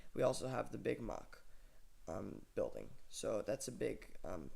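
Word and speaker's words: Mack: It is, of course, a German manufacturer.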